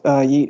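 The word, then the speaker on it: Yeat: But I have come to grips with the fact that one of my favorite rappers right now, his name's pronounced Yeet.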